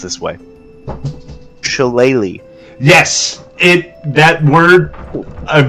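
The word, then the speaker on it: Shillelagh: it's pronounced this way shalele yes it that word I've never known I'm glad you did that for me CH everywhere I looked it's like pronounced it like ukulele but different um I'm going to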